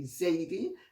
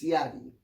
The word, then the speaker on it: Ziadeh: All Ziadehs are related, or Ziadeh as it's sometimes called in the West, or in Jamaica they say Zaidi, and sometimes in England they say Zaidi as well. But the correct classical pronunciation of the name is Ziadeh, which I very seldom